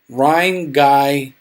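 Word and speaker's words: Rhinegeist: don't know if they're there anymore oh it's pronounced Rhine guy Ryan Geist okay we've got three pints of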